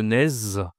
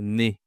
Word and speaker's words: nez: Alors, bien sûr, ici, je ne dois pas prononcer le Z, je dois dire le nez.